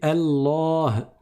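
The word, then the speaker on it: الله: Quand je m'arrête sur un ha avec soukoun à la fin, faites attention à prononcer le ha. Certains, ils prononcent pas suffisamment bien. Ils vont dire bi, comme certains qui prononcent mal le nom de Allah. Il y a un ha à la fin. On ne dit pas Allah, Allah. On dit Allah, Allah. Et donc le ha, on l'entend à la fin, même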